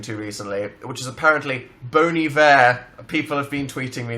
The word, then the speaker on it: Bon Iver: recently, which is apparently Bon Iver. People have been tweeting me that recently. It's pronounced Bon Iver.